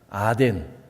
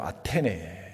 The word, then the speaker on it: 아테네: 스타일입니다 또 아덴 스타일 아덴 오늘날 발음으로 아테네 그지요 아덴 스타일은 호기심이